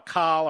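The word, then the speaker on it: Kahl: council now on iran it's spelled by the way k-a-h-l call or call he supported obama's iran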